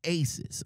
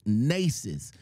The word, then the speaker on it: Naissus: I thought she said I thought she said it was Aces I'm not sure I I thought it was Aces the way she was pronouncing it but it's nasus n a i s s u s